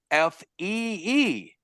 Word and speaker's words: phi: What's really cool about the word fee, F-E-E, is that there's another word, P-H-I, that is also pronounced fee.